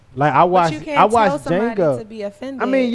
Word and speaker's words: Django: Yeah, the Django. I said Django. Yes. The Django. The D is silent.